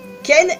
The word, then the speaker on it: Cain: Déjà, premièrement, Cain égale Caïn, parce que en anglais, le nom Caïn se prononce Ken.